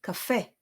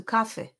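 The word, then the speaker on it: קפה: The same goes with cafe. It goes on the second syllable, cafe, as opposed to cafe.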